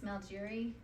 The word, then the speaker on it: Malgeri: It's Malgeri. How do you spell that?